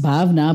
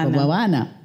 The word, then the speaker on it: Bhavana: no it's right pronunciation it's supposed to be pronounced bavana but if a local person looks at it they will definitely pronounce bana which I was not okay with I don't